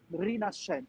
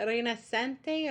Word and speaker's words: Rinascente: No, when you find in an Italian work S C, So it's like a sh.